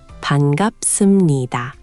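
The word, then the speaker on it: 반갑습니다: Bangapseumnida.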